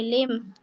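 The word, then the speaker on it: limb: डम जम नेम नम सॉरी लिम लिंब लिंब नहीं बोलते लिम नम ठीक है जी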